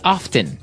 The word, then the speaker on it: often: They kind of leave out the strong t sound. Well, other people say often.